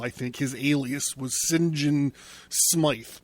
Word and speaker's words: St John: think his alias was sinjin smythe but it was spelled s t john smythe but he when he pronounced it he pronounced it sinjin smythe so i've been carrying